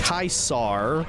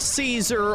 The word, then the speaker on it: Caesar: So, first of all, the original pronunciation is Kaisar, not Caesar or Kaiser.